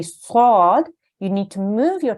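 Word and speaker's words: صاد: It's pronounced, or this letter has the same articulation point as the letter Sin, but the top of the tongue is raised to the roof of the mouth to make it a heavy and thick sounding letter.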